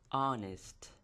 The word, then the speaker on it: honest: ګورئ دلته دا شروع شوی د h نه خو زیاتره خلک دې ته وایي honest لکه h دی نو h تلفظ کوي خو په اصل کې دلته h موږ بلاست کوو. دا به موږ سایلنټ کوو و به غورځوو د او نه به شروع کوو.